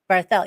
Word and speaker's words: Barthel: Barthel. You do say the TH. Well, Oh, you can, or, I love things French. This is terrible. Barthel. Yes, Barthel is lovely. But most people know me as Barthel.